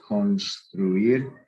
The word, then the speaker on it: construir: Any verb that ends in UIR, not GUIR, but UIR, where you actually pronounce the U, like construir.